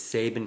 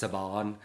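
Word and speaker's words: Saban: comment like uh try to correct me it's Sabin films is pronounced sabon like okay okay sure thank you kindly all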